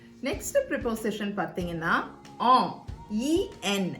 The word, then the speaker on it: en: Next preposition பார்த்தீங்கன்னா ஆம். EN. இது எப்படி ப்ரொனவுன்ஸ் பண்ணுவோம் அப்படின்னா ஆம் அப்படின்னு சொல்லிட்டு ப்ரொனவுன்ஸ் பண்ணுவோம்.